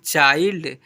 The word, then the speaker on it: child: Example पर MIND mind, CHILD चाइल्ड, FIND find, यहाँ पर क्या लिखा हुआ है WILD वाइल्ड ऐसे पढ़ते हैं, ठीक है।